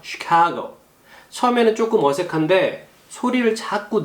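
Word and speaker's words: Chicago: 그 다음에 이게 CH 발음이 이 발음이 나요. 쉬 발음이 나요. 쉬 발음은 어린아이 이제 오줌 누일 때 자, 쉬하자, 쉬. 바로 그 발음이라고 보시면 돼요. 그래서 시, S 발음이 아니고요. 시카고.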